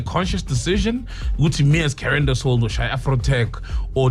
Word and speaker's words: Karyendasoul: He taught us how to pronounce it correctly. Karyendasoul and Sunel Musician.